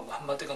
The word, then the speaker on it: 무함마드: 이슬람에서 무함마드가 누구이고 무슬림들은 무함마드를 어떻게 생각하는가? 이 부분을 저희가 알려드리도록 하겠습니다. 우선 마호메트라고 하는데 이 표현은 잘못된 발음이고요. 약간 영어식 발음 같은 건데 원래 이제 원어는 무함마드예요.